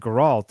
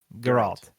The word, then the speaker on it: Geralt: Geralt. You're putting the emphasis on the wrong syllables. Ah, okay. So Yeah. do it again, but slow. Geralt. Geralt. So Alt. Geralt. Yep, Geralt. I did it.